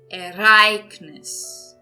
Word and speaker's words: Ereignis: Ereignis. Então percebam aqui, eu estou entonando aqui agora nessa palavra a segunda sílaba, não a última.